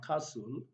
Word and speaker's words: castle: t sound there so we have silent letter t so we have castle we have christmas christmas